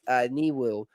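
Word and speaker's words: Nwiwu: So it's a Chimdia Wiwu. So I guess the N is silent in the last name. Chimdia Niwu.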